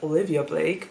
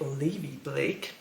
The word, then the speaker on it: Olivia Blake: Olivia Blake Olivia Blake I always pronounced it wrong because I always said Olivia Blake but it's actually Olivia Blake and this is one